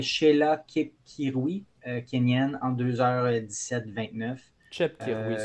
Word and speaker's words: Chepkirui: Chepkirui, selon moi. Chepkirui. Ben, comme Cheptegei, là, tu sais. Ouais. Souvent, tu le prononces le ch.